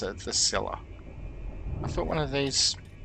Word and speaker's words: Scylla: At least now I know how to pronounce it. The Scylla.